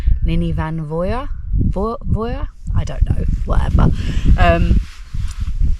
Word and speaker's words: Llyn y Fan Fawr: um welsh people earlier they told me that the f should be pronounced with the v so i suppose i should call it nini van voya i don't know whatever